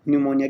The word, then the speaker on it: pneumonia: निमोनिया की spelling आप अच्छे से याद कर लीजिए। पी आता है इसमें, एक तो PNEUMONIA, इसको अच्छे से याद करना कई बार।